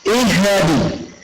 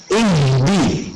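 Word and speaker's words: اهدِ: ini di awal ayatnya ihadi ihadi padahal itu sukun bukan tasdid maka cara bacanya sempurnakan H Jan dipantulkan maka baca seperti ini sempurnakan harakat kasrah kemudian sempurnakan tanda sukun ihdi bukan Ih bukan juga ih tapi ihim seperti itu berikutnya sempurnakan sukunnya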